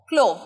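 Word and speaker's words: clove: poppy seeds আচ্ছা লবঙ্গ ক্লোভ ক্লোভ ক্লোভ ভ টা এরকম উচ্চারণ হবে ভ ক্লোভ লবঙ্গর ইংরেজি কিন্তু ক্লোভ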